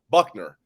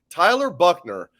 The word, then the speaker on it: Buchner: tyler buchner though um buckner tyler buckner it's pronounced like bill buckner it's it's spelled a little different tyler buckner um good runner we'll